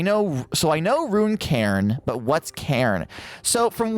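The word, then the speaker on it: Cairn: be running a game called Karen I believe it's how it's pronounced c a i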